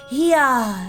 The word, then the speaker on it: Hia: When the vibration of vocal folds is still required to convey our thoughts and intention, "Hia," I believe, was the pronunciation used when referring to our people.